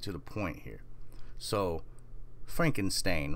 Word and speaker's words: Frankenstein: What if I was to tell you that it's not Frankenstein, it's Frankenstein in this new timeline? And quite a few people that I've asked have said Frankenstein. You know, like Ben Stein.